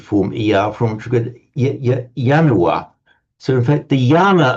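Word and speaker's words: ianua: It's like a a symbolic almost a symbolic ritualistic right when we pronounce yanua in Latin.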